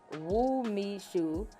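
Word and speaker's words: umeshu: need a cork so let's see okay um pronounced woo me shoe is the traditional dessert liqueur made from the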